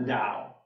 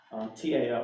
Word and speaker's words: Tao: T-A-O, it's not Tao, it's Tao.